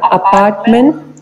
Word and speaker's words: Appartement: This is a French word. So this is silent, almost silent. Appartement. Okay. Appartement. Okay. Appartement. It is not mo. It is not mo. It's mo.